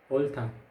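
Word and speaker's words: 옳다: यहाँ देख्नुहुन्छ दुई भिन्न व्यञ्जन, तर उच्चारणमा अगाडिको व्यञ्जन रिउल मात्रै हुन्छ, जस्तो ओल्था, ओल्था, ओल्था भनेको सही।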